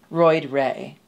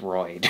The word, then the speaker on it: Royd: king drug performer name roid ray welcome to the stage roy ray yeah i love that but roid's the first name hey ray actually my name is royd i love that roid